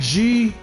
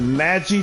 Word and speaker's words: Magi: problem the Magi trials it's not g it's a magi man I'm telling